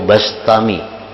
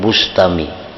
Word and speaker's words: Bistami: Yazid Al-Bistami atau Al-Bastami, membacanya Bistami atau Bastami, jangan Bustami. Jadi bi atau ba, karena dalam beberapa kitab ada yang mendabitkan bi kasril ba Bistami, ada yang bi fathil ba Bastami.